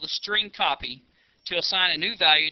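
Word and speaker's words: strcpy: str CPY which is pronounced string copy left parenthesis and then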